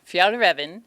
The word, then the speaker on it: Fjällräven: Fjallraven, is that how we say it? Correct. Fjällräven is the good Swedish way to say it.